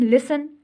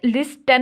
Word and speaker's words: listen: उसके बाद हम लिसन, LISTEN, लिसन बोलते हैं। तो अब इसमें लिस्टन नहीं बोलते, हम लिसन बोलते हैं, तो टी यहाँ पर साइलेंट, ठीक है।